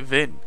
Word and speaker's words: Wien: You don't pronounce the E of what? Oh, is it Vin? Like wine.